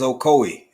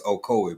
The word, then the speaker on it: Okoye: Yeah, that name, that is Okoye. Okoye. I was looking at it so hard and trying to click buttons. I didn't want to mispronounce it, but yes, Okoye.